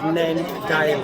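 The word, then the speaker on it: Nindigully: Pronounced Nandale. Nandali.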